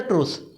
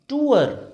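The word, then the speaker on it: tour: देखो आप जो भी बोल रहे हो इसको, इसको पता है क्या बोलते हैं? टूअर, टूअर। और अगर आपने बोला टूर, बस यही आपका रिजेक्शन हो जाएगा, ठीक है।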